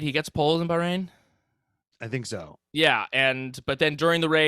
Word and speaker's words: Bahrain: previews bahrain i was i've recently found that that's how you say it it's not ba rain it's bahrain so you know i'm saying